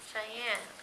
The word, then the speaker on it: Cheyenne: Cheyenne.